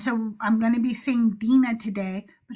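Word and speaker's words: Dinah: name the same way, but because the American pronunciation is Dina to keep the continuity the same, I called her Dina the entire time.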